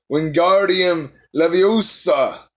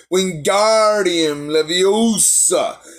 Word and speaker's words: Wingardium Leviosa: Wingardium Leviosa, said he shouted, waving his long arms like a windmill. You're saying it wrong, Harry heard Hermione snap. It's Wingardium Leviosa. Make the gar nice and long.